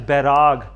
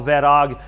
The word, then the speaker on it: Vairag: And working alongside that is Bairag or Vairag. These can be spelt with V's or B's depending on wherever you read these.